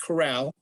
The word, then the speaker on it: Corral: And my last name is pronounced Corral, and is in Flintstone, and Corral like in OK Corral.